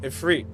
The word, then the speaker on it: Ifrit: If Oh, actually, no, cuz it's not pronounced Ifrit. It's pronounced ephre four times.